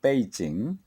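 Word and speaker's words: 北京: 수도 이 사고도 이다 중국의 북경 이 때 이 칭 본토 발음으로 빼 이 찡 북경이 그 유래나 문화유산의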